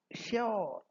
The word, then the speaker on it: sure: So the new pronunciation the modern style whether British English or American English is sure sure I'm sure rhyming with poor sure rhyming with poor. So that was the explanation that s u r e can pronounce both as sure and as sure. Although the second one is more modern but sure rhyming with cure is not wrong and sure rhyming with is also correct and the more one